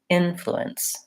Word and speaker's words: influence: short short is to start at the end just try fluence fluence light and click on those syllables and then longer on the in influence influence then once you can